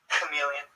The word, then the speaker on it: chameleon: have an SH sound chameleon scholar chemistry psychology psychic these Greek originating words usually have a K sound when spoken in English